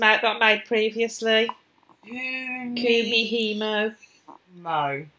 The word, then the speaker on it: Kumihimo: Kumihimo. No. So not how you spell it, but phonetically it looks exactly as it sounds.